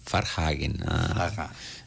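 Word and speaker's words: Varnhagen: F. Vanhagen é Farhagen. Farhagen.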